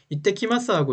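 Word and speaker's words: いってきます: 요거 이게 it하고 밑에 ts가 붙었죠? 그러면 이때라고 있습니다. 밑에 받침이 붙어서, 그러니까 한글로 쓸게요 여러분. 이때라고 있습니다. 그죠? 그냥 이라고 쓰면 이라고 읽겠지만 밑에 ts가 작은 글씨로 붙어 있어요. 그러면 밑에 시옷이 하나 붙는다고 생각하시면 돼요.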